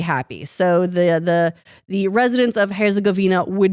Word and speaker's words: Herzegovina: I've always said it like Herzegovia. Herzegovina. I just missed a whole N right there.